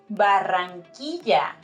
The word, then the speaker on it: Barranquilla: It's Barranquilla, not Barranquilla or anything else.